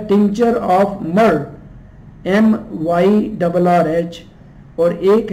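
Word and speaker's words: myrrh: लीजिए, उसमें tincture of मिर, टिंचर ऑफ मर उसका है प्रोनाउंसिएशन, ये देख लीजिए मैंने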